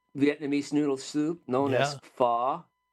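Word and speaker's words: pho: meal of uh Vietnamese noodle soup known as fa not I got a funny story to tell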